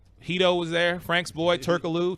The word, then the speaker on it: Turkoglu: was there Frank's boy Turkoglu Turkoglu we don't pronounce the G on a whole nother